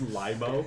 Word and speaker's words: Limo: a great question limo Li spelled limo pronounce Lio yeah you know what